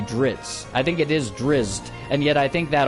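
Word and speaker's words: Drizzt: drizz dueren series uh I think drizz drizz is spelled driz or something like that but I think even the author sometimes will say dritz which is not how it's spelled it's there are Z's before the T unless the z's are silent there so I think it's drizz not drits plus it's t at the end not TS or TZ so it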